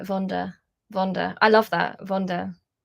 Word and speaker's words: Wanda: It's actually pronounced with a hard V, like Vonda.